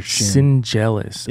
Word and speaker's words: Schendzielos: if it's s-c-h-e-n-d-z-i-e-l-o-s okay D and the Z you pronounce like a j wow dude yeah jealous